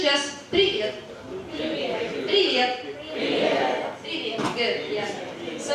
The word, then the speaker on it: привет: So it's just привет.